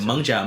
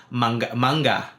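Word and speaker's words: 艋舺: There's two ways to pronounce it. Mengjia, Manja, or Manga in Hokkien.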